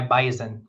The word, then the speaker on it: Bison: rooting for my my bison you don't call them bison for some reason in North Dakota they're called Bison up there with the it's spelled with an S but said with a Z still going to be